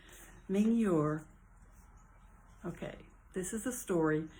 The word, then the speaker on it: Mingyur: This is a story recounted by Yongey Ming. I know I'm pronouncing his name wrong. Mingyur.